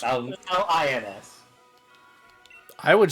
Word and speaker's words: New Orleans: Nolans. You pronounce it as though it were spelled Gnawlons. Nolans.